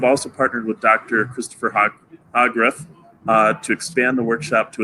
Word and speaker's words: Hogrefe: Hogrefe, can you let me know how to pronounce that right? Hogrefe. Hogrefe, thank you.